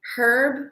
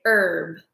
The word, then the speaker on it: herb: Here in America, we don't really pronounce the H in, we don't say herb, we normally say herb, like that.